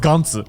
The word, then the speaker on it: Gantz: I mean, in Japanese, it's pronounced Gantz.